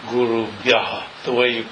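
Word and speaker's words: गुरुभ्यः: it's Guru Bhyas, and S in the final position changes to what's called Visarga, which is an H with a dot under it, which is pronounced Guru Bhyaha, the way you say it.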